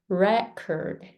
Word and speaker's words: record: Record. Record. Record. Do you feel that re is stronger than curd? Record. Record, right? And then when you say record, cord is stronger than re.